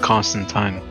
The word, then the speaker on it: Constantine: constantine also it's pre it's by the way they it up in the movies but it's actually pronounced constant time yeah yeah they kind